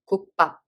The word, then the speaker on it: 국밥: The consonant of the second syllable became tensed. It's pop. 국밥.